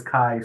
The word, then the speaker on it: chi: This kai square, this is the Greek letter kai, ch hi, how you spell it out in English, but the kai square score is when we're doing standard deviation or variance.